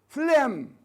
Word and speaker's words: phlegm: Yes, phlegm, الجاء لا تلفظ phlegm, لكن الادجكتيف تلفظ phlegmatic. The ga here is pronounced, but it is dropped here.